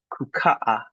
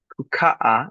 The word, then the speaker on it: kukaa: Most of the time it's the second to last syllable, even when there's double letters. Like kukaa. Or kuandaa. Two a's. Kukaa is to sit. Two new a a a. Kukaa. Kukaa. Now, a lot of Swahili speakers will not double create that accent. Um they might just linger on that letter. Kukaa. Kukaa. And let it fade.